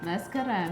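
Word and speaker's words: መስከረም: Mescaram.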